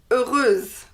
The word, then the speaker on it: heureuse: The feminine form is heureuse. Heureuse with S and E, and you pronounce the S because there is an E after.